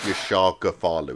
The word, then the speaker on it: Yashar Ghaffarloo: here what is the correct way I said your shark Godfather is that correct way of pronouncing your name yeah that's right oh good